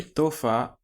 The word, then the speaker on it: तोहफा: तोहफा, written तोहफा but pronounced तोहफा. This is to, letter t of the year, o, then है, fa, तोहफा, but we do not pronounce it तोहफा, pronounce तोहफा. We kind of skip है sound. Do not pronounce है here. है is silent.